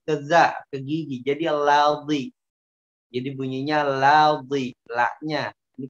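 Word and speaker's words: الذي: Tapi hati-hati, tebel, terlalu ke atas. Karena memang ada yang membacanya tebel. Ya, ada yang membacanya tebel. Dan ini salah. Ya, salah. Illalladzi, ladzi, la. Jadi la-nya dia tebel, ya. Ladzi. Mengambilnya di gusi la-nya, padahal la-nya ngambilnya di gigi.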